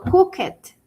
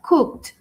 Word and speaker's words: cooked: Le agrego ed y al momento de pronunciarlo, yo no digo cooket, que muchas veces podríamos pensar que porque tiene ed, entonces sería cooket, ¿no? No está bien pronunciado. Es cooked con t cooked. Cold no es callet, sino cold con d.